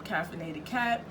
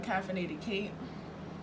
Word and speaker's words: Caffeinated Kate: And I think I'm saying her name wrong, Caffeinated Kate, because her name is Caitlin.